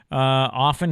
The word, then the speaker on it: often: Often has no T.